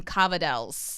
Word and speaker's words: cavatelli: So the pronunciation there, like his family eats cavatelli a lot, but they call them cavadels.